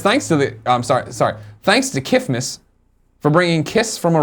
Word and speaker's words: KFMS: I like to abbreviate to KFMS, pronounced Kifmas. Yeah. Please say it like Just like Mike Tyson saying Christmas.